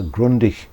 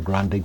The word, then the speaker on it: Grundig: has push buttons um I suppose I could call it a Grundy but we have a long tradition in Australia of mispronouncing foreign names so I'm afraid it's going to have to be a Grundig for the rest of this video now being a transistor